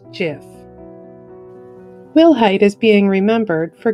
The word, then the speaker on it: GIF: he led the invention of the popular graphics interchange format or gif which he pronounced jiff willhite is being remembered